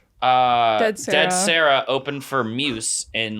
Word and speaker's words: Muse: dead Sarah open for Muse in like First off, it's just Muse. I just said Mia Muse. That's what No, he said Muse. Moose. Muse. Muse. You made up a pronunciation of Moose.